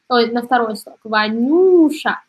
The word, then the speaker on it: Ванюша: дальше смотрим анти врать ванюша ударение на третий слог ванюша и у нас есть иоанн ударение здесь у нас на последний слог и о.а.